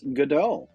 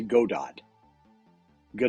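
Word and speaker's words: Godot: from Samuel becket's godal so the t is silent and the O are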